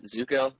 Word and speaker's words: Zuko: My real last name is Zuko, pronounced the same way.